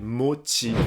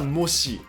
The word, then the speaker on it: mochi: C'est mochi. C'est pas mochi. C'est mochi. En tout cas, les Japonais n'aiment pas trop que la prononciation des mots japonais change beaucoup en France.